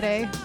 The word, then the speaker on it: Sade: Sade.